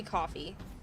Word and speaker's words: Ko-fi: No one pronounces that coffee, apparently. Huh? It's supposed to be coffee.